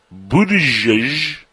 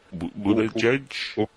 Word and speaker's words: Buttigieg: Also, Mayor Pete Buttigieg. How do you pronounce that, Brandy? Do you know how to pronounce that? Buttigieg? Buttigieg. Right? It's something like booty guy?